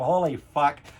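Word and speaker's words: Holy Fvck: Even though the fuck is spelled with a V, it's called Holy Fuck.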